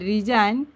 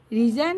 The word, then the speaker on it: resign: এস আই জি এন রিজাইন রিজাইন হত silent letter জি ঠিক সাই এস আই